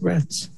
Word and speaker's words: Retz: Then, is it Ms. Retz or Retz? Yes, Your Honor. Am I pronouncing that right, Retz? Yes, you are.